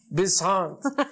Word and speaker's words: Besant: Según no lo puedo pronunciar, ¿cómo se pronuncia? Annie Besant. Besant.